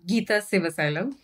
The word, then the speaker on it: Geetha: silva slim is that correct i heard you pronounced it right how would you say it how would you introduce your name um gita excellent sounds much better when you say it